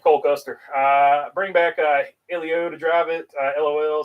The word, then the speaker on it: Helio: great ride for him people get mad when I call him Helio it's Elio so if I say Helio sorry that's just that's just a mispronunciation I can't believe I'm